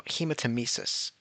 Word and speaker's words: hematemesis: Or no, hematemesis. Yeah, that's how you pronounce that one.